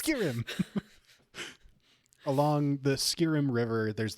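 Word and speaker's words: Skirim: along the skirm river not the Skyrim River the Skyrim river which is it spelled the same no okay it's s k i r i m it's so close it's skirm along the skirm river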